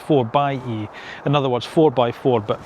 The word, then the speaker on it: 4xe: Now, when they brought the the 4xe out, and that's how you pron although it looks 4xe, it's actually pronounced 4 by E.